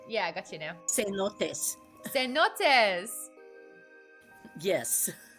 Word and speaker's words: cenotes: Cenotes. Cenotes! Yes. Like, after I finish my beer, I feel a little bit cenotes?